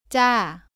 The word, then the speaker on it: 짜: 발음은 자와 비슷한데 목에 힘을 주면서 조금 더 세게 발음합니다. 공기가 나오지 않도록 발음합니다. 따라해 보세요. 짜, 짜.